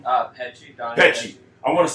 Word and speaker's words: Petsche: Petsche.